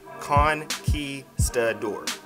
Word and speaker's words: conquistador: you and conquest adore it's just like when you say queso dip or kick it's just con ki stud or thanks for the input